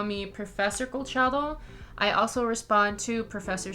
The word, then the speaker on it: Colchado: are more than welcome to call me professor colchado i also respond to professor c both of